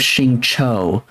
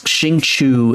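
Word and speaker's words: Xingqiu: and then um uh they told me that the actual Chinese thing is Shing like it's shingi pronounced the I and the U it's shingu and um he says that it's shingu is closer than Shing Cho but either one's fine and then I joke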